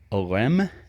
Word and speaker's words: Oresme: and thinker, uh, Nicole Om is the way his his last name is pronounced. It looks like Oresme or whatever, but it's OM cuz he is a French person.